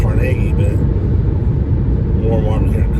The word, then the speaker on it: Carnegie: but we're approaching a city called carage PA or it caragi I used pronouncing it Carnegie but War more here